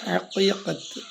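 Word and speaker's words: عقيقة: ചിലര് ഹക്കീകത്ത് എന്ന് പറയും ഐന് പുള്ളിയുള്ള കാഫ് രണ്ട് പുള്ളിയുള്ള കാഫ് ഹക്കീകത്ത് ഇതാണ് ആ അറവിനു വേണ്ടി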